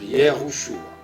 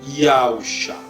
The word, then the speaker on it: Yausha: de yosua certo yosua tá bom igreja yusua a pronúncia que eles ensinam mas a pronúncia correta é mesmo yusa e mais engraçado parece mentia é que eh